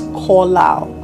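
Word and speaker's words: qalal: It's spelled as Q A L A L, but it's pronounced as kal.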